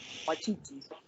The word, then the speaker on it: Waititi: Waititi.